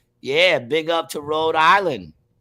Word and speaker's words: Rhode Island: read this for me Rhode Island pronounced road is a state in